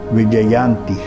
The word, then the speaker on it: Vijayanti: So this name is Vijayanti. Can you pronounce?